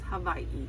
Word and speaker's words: Hawaii: is over there actually pronounced V so it's Hawaii but nobody pronounces it right because we learn W's are